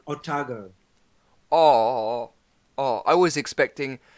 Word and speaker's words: Otago: It's pronounced Otago.